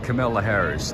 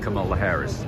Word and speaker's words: Kamala Harris: even kidding it I wonder though if uh Camilla Harris the VP Kamala Harris that's how you say it right I wonder